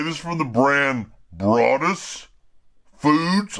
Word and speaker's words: Broadus: is from the brand Broadus Foods I believe I'm pronouncing his last name right you know like as in Calvin brought us all right this is